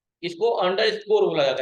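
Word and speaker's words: underscore: इसको अंडर स्कोर बोला जाता है।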